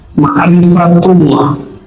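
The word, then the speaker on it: مَعْرِفَةُ اللَّه: Ma'rifatullah atau ma'rifat Allah, bacanya ma'rifatullah ya.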